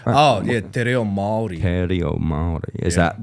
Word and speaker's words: Te reo Māori: Te Rao Maori? Oh, yeah. Te reo Māori.